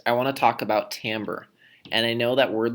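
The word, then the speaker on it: timbre: Tim Bray but I can assure you it's pronounced Tambor and this has to do with music but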